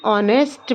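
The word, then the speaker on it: honest: ही इज़ एन ऑनेस्ट मैन। एच जो है silent है।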